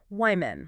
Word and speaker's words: women: But plural women, that first vowel changes completely. It sound like the I in big or sit. Wyman. Wmen.